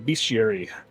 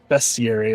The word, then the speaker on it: bestiary: Draconic Atlas uh beastiary or bestier as I guess it's technically is pronounced but like I grew up thinking of it as beastiary because it was always involving beasts and I know I'm not alone on this.